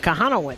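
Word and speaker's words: Kochanowicz: How do you pronounce his name? Kohanowitz? Kohanowitz.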